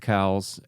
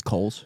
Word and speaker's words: Cowles: Pazvar, Danny Tran, Seth Cowles, and Coles. I always say his name weird, but you know what I'm I think talking. it's Coles.